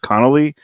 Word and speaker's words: Connelly: How do you pronounce her last name? Connolly. Connolly. Yeah, yeah, Connolly.